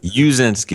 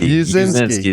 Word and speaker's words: Uszynski: I don't know if that's Uszynski or Uszynski. How do you say your last name? Huh? Uszynski. Uszynski is how the grandparents passed it down.